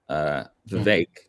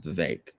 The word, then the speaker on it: Vivek: think you pronounce it Vivek. Vivek. I think it's Vivek. No, I think it's Vivek. Yeah, I'm pretty sure it's Vivek. It rhymes with cake. He said that. The E makes an A.